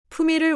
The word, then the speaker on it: 품의를: 품에 is written 푸인 in 푸미를 many speakers pronounce it close to 품을 in natural speech 품미를 올리다.